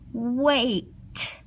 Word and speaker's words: weight: It's just one of those things where the GH is silent. Sometimes you see it when there's a T at the end, weight, weight. This is how heavy something is. So we have the GH here, and it's silent.